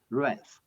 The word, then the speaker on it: wrath: Wrath. The W is silent.